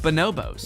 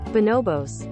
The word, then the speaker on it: Bonobos: Where you can shop for clothing from real-life clothing brands like Bonobos. Wide leg jeans, Bonobos sweatpants. Is that how you pronounce it? I looked it up afterwards, and it is not. Bonobos.